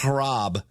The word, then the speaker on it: Hrab: Now, Rob is spelled H R A B. So, it's actually George Rob, maybe not.